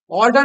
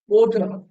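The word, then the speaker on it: odour: তাই ওডার খারাপ গন্ধকে আমরা বলি কি ওড অর্ডার না কিন্তু ওড ওডার ও ইউটা উচ্চারণ হয় ওডাউড না উচ্চারণ এটা ওডার উচ্চারণটা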